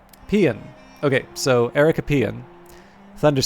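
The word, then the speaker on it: paean: French French uh okay got what I needed pronunciation pean okay so Erica pan Thunders skins pean there you go this is what you get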